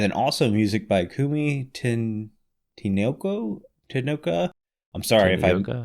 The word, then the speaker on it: Tanioka: So Lena Raine, because that last name is it's not completely clear how to pronounce it, but it's Raine, like rain. Mm-hmm. The other composer is called Kumi Tanioka. Tanioka.